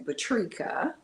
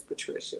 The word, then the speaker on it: Patrica: my name is actually Patrica most people think I don't know how to spell it and they add an i and think my name is Patricia but my name is actually Patrica and I've been doing